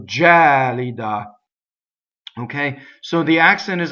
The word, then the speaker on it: gelida: so now notice that the stress jelly da is on the second-to-last syllable that's that's not a common stress in Italian and also this vowel isn't open E as we said before the word hat like head so jelly da okay so the accident